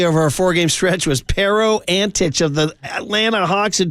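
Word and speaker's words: Pero Antić: bad that we were talking about Anto Peric. Who? Is that his name? Did I get that name right? No, it's Pero something, right? Pero Antich.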